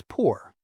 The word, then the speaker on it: pour: The word for for is poor, like pouring a drink.